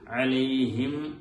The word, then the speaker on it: عليهم: അലൈഹിം വ അലൈഹിം വ അലൈഹിം എന്ന് പറഞ്ഞ് ചുണ്ടുകൾ പരസ്പരം ഒട്ടിച്ചേർന്നാൽ മാത്രമേ മീം അവിടെ ഉണ്ടാവുകയുള്ളൂ.